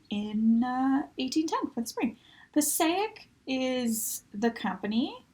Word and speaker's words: Passaic: Passaic is the company. I think it's pronounced Passaic, that's what I've been told, as it was potentially named after a town in New Jersey, although it could be